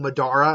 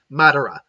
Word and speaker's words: Madara: sorry if i mispronounce I'm pretty sure I've been saying Medora and I know that's even I know that's not right this just cut out now she comes off me I believe it's Madara Emily it's a matter